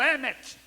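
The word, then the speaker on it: אמת: Pronuncia-se emet, mas é o alfa, né?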